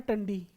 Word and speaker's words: Tandi: Point का नाम है टंडी, ठीक है, TANDI, ठीक है भाई। प्रोनाउंस की बात है, टंडी बोल लो टांडी बोल लो, ठीक है।